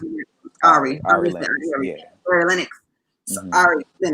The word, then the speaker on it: Ari Lennox: I'm gonna pronounce Ari, it. Ari. Ari Ari. Lennox.